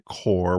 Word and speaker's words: Corps: So, for whatever reason, because of the English language, the P and the S is not pronounced.